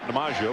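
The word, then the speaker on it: Domingeaux: And I know when you see his back, you're going to say, "How is that Domineaux?" Because that's how his family pronounces it.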